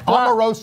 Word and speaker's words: Omarosa: Ann taught me how to pronounce her name properly on the way up here today. Omarosa.